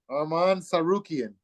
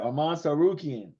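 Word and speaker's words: Arman Tsarukyan: Arman Sarukian. Sarukian, right? Arman Sarukian.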